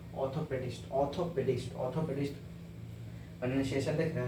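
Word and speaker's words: orthopaedist: ओ पी ए ई डी आई एस टी ऑर्थोपेडिस्ट ऑर्थोपेडिस्ट ऑर्थोपेडिस्ट प्रशन देख रहे हैं ना आपको हल्का लाइट साइलेंट करके बोल र है ऑर्थोपेडिस्ट ऑर्थोपेडिस्ट का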